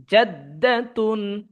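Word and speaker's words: جَدَّةٌ: তা দুই পেশ তুন, জাদ্দাতুন। জাদ্দাতুন এখানে দালের উপর তাসদিদ হয়েছে, তাহলে দাল অক্ষরটা দুইবার উচ্চারণ হবে।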